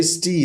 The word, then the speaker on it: Stig: but but stick stick almost like a stick the same pronunciation like safe sword then